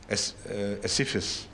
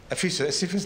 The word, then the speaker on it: Ephesus: ملتی ہیں ایفیسس میں، ایسیفس، یہی ہے ایفیسس نا، ایفیسس رائٹ، ایفیسس۔ اسپیلنگ کیا ہے اس کی؟